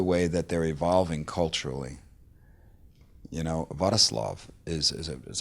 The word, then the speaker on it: Wrocław: Wrocław is that how you say it? Yeah, Wrocław.